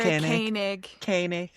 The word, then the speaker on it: Koenig: O-E in German is a way of spelling an O with an umlaut, and it's pronounced So, Koenig. Yeah.